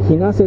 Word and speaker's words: 日生: 柿横、ひなせ海岸、ひなせ、日生と書いてひなせと読むんですけどね。